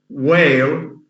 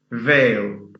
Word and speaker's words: whale: So instead of saying whale, they can't say whale. They mispronounce it as veil.